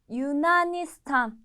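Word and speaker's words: Yunanistan: 그래서 루시아라고 발음해 주시면 되고요. 다음 그리스, 그리스는요 조금 기네요. 유나니스탄, 유나니스탄.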